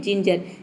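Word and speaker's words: ginger: जी letter को हम क्या प्रोनाउंस करेंगे, ज प्रोनाउंस करेंगे। एग्जाम्पल समझते हैं, जिंजर, जिंजर का मतलब होता है अदरक।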